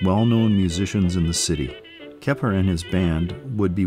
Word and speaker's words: Keppard: Freddie Keppard, the D is silent due to his French heritage, was the best trumpet player from New Orleans.